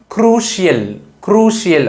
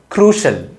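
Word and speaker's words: crucial: ரொம்ப முக்கியமான அப்படின்றத குறிக்கிற இந்த வார்த்தையை நம்ம க்ரூஷியல் க்ரூஷியல் அப்படின்னு சொல்லக்கூடாது, மாறாக க்ரூஷல் க்ரூஷல் க்ரூஷல் அப்படி தான் சொல்லணும்.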